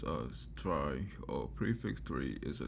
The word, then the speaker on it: trie: also known as prefix three a try pronounced as try or prefix three is a data structure used